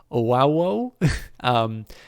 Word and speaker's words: OWW: chose Occupy White Walls, OWW for short, pronounced as Owawo.